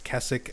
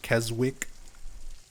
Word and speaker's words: Keswick: I've had a lot of people who are from there or nearby there correct me a million times that it's Keswick and not Keswick.